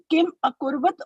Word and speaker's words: किम् अकुर्वत: We have to pronounce Kim Akurvat or Kim Kurvat. Kim Akurvat.